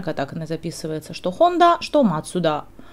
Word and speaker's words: Mazda: Вот, но как марка, она официально катаканы записывается, что Honda, что Matsuda. Matsuda – это Mazda, по-английски через Z мы ее пишем, но вообще это тоже Matsuda.